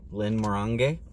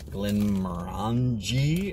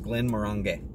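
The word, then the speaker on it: Glenmorangie: Uh some sometimes called Glenn Moran or Glen Morani or half a dozen other names. Most people pronounce it wrong. Uh in fact, I had a Scotchman sit down smoke a cigar with me and he told me that it is Glenn Morang.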